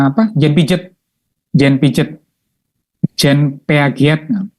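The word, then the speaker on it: Piaget: Jen pijet Jen pijet Jen peagat bacanya J pijet ya kognitif jadi kognitif itu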